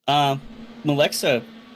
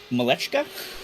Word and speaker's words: Malechka: And we are seeing Malexa, or is it Malechka? Malechka. I'm mispronouncing that.